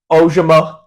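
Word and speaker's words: Ojomo: And the reason why I say step up, Ojima, as we were told today by Andrew Tekco, it's the correct pronunciation.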